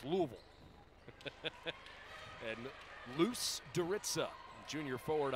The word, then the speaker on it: Louisville: Remember, in Ohio, it's Louisville. Kentucky, say it like you got a mouthful of marbles. Louisville.